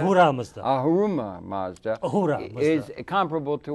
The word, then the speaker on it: Ahura Mazda: Arama Mazda or something. Arama is that? Ahura Mazda.